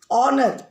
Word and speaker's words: honor: Honor. Now it is starting with H. But we are saying honor. Sound of O is coming.